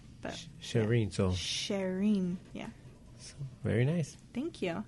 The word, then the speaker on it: Cherine: Well, it's actually pronounced Cherine. But Cherine, so Cherine.